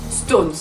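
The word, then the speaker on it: SixTONES: le reste en majuscule, parce que comme ça se prononce Stones.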